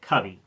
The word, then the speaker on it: Covey: So, to begin with, Britton Covey, I believe he actually pronounces it Covey.